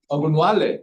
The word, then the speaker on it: Ogunwale: Ogunwale. Yeah. Nice, because usually the last E is not pronounced.